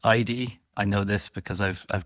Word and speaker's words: Aydi: I believe this company is pronounced Aydi.